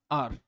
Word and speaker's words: hour: तो देखो HOUR, आर। ठीक है, अब ये जो है इसमें बताइए आपको, एच साइलेंट होता है तो इसकी स्टार्टिंग कैसे हो रही है, अ से, आर से।